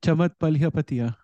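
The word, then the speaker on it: Chamath Palihapitiya: a a man named chamat palaha pardon my pronunciation it is chamat Palapa yes correct thank you thank you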